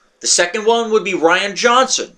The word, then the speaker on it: Rian Johnson: The second one would be Rian Johnson, spelled with an A, not a R-A-I-N, not Ryan.